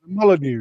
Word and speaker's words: Molyneux: I'm sure they want to give us 3 points right now at the Molyneux. Is that how you say it? Molyneux, yeah. I hate these French words, man. It's a strange pronunciation, I suppose.